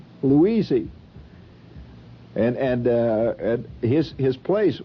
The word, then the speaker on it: Louisey: You mean you don't remember Louisey? That's the hillbilly way of pronouncing Louise. Louisey.